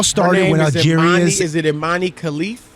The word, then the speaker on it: Imane Khelif: Is it Imane Khelif? Imane Khelif, the E is silent.